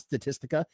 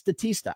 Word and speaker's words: Statista: a pretty big statista I'm not even saying it right it's not statistical it's statista I didn't even know